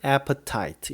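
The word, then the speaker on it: appetite: I have no aftight 영어로는 애프타이트 이렇게 됩니다 철자는 appe tite 앞에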